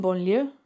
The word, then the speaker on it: banlieue: Think about the word lasagna. And where the G and the N meet, I want you to kind of say lasagna and see where your tongue is in your mouth.